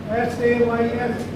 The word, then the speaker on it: says: S-A-Y-S. Very small word, mostly commonly used. It's a says. We have not to say he says, it is he says.